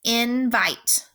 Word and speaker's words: invite: so this is closed the second syllable is vite I and remember you do not have to tap each part of this word if you can separate it into syllables and write it without tapping it just don't forget that is gonna sell that I to say its name so we're gonna cross out that e that I says that